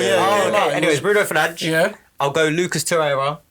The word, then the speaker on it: Bruno Fernandes: Bruno Fernandes. Yeah. Yeah? That's it. Yeah. Okay. Because he's corrected people. Yeah. Corrected Yeah. the two times, Bruno, isn't it? yeah, Bruno Fernandes.